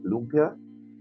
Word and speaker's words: lumpia: American Filipinos to say lumpia of course locally look yeah the the downward the cut is on the second syllable the first and we have some